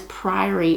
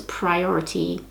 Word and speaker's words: priory: slow and that is priory of the orange tree i always saw it as priority because of how people say it and that's yeah i've said it wrong in some videos i'm sorry i'm stupid